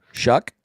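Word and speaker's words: Shough: I And look, I'm I'm thinking I don't know how to pronounce his name, but I'm going Tyler. Shuck.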